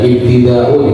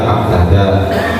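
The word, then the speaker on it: ابتداء: Dan ibtida'u dibaca ibtida', tidak dibaca abtada, dan seterusnya.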